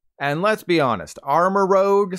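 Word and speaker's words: armarouge: and let's be honest armor Rogue sounds a lot cooler than our marouge but it is called armor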